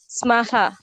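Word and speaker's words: स्मः: Aham nipuna asmi, avam nipune swaha, vayam nipunaha smaha. See, she pronounced correctly. That visarga should be pronounced. If you don't pronounce that visarga, sma means something else. Sma will give some other meaning.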